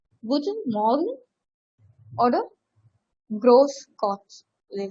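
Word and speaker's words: Grüß Gott: So இது வந்து actually it is being pronounced like s. S ஓட pronunciationல வரும், double s ஓட pronunciation. So it's being Grosgots, they say that.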